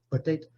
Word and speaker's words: potato: Potato. Então, vocês estão vendo aqui, ele aparece em dois lugares. Isso quer dizer que essas sílabas são mais fracas. Potato, o forte aqui é isso aqui.